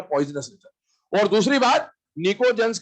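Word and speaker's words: pnictogens: P silent है, निकोजेंस बोला जाता है।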